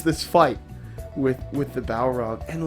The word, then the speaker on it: Balrog: I think about the I'm going to say balrog am I saying it right yes bingo the balrog is not